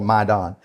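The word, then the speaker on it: Maidan: And it's it it's spelled like what we would spell maiden but it's called Maidon.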